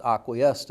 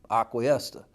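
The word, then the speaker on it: Aqui Esta: a kia star well that's pronounced acquiesta around here and the man who named it vasco peoples pronounced it acquiesta and so everybody who's in the debate about how to properly say some of these place names if you say acquiesta and punta gorda that's correct around here if you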